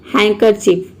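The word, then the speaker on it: handkerchief: अब यहाँ पे देखिए डी जो है ये यहाँ पे साइलेंट है, मतलब हम डी को प्रोनाउंस नहीं कर रहे हैं, केवल यहाँ पे HAN को हम प्रोनाउंस कर रहे हैं हैन।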